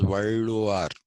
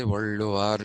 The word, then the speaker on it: Valluvar: Now, so if his name was Valluvar, then it's actually the Tamil pronunciation of this is Valluvar. Okay, Valluvar is the pronunciation.